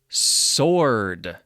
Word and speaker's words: sword: w what is the answer to the question sword s-w-o-r-d sword the young man could not lift the